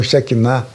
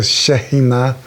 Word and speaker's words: Shekhinah: uma nota explicando, que a palavra Shekinah, muitos pronunciam Shekinah, é uma pronúncia mais aportuguesada, mas em hebraico é Shekhinah.